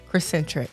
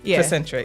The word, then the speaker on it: Crescentric: Crescentric. Okay. See, yes. I might have threw a little T or S or something else in there. Put a little spice. So Crescentric.